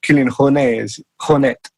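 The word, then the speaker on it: Kilian Jornet: and those guys or kilan H honet as he should be pronounce uh you know they're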